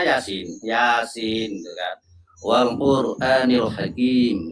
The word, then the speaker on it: Yasin: Yasa tulisannya Yasa tapi bacanya Yasin.